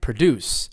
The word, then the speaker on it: produce: everybody knows this one right produce what does that mean yeah it means to make something right yeah we produced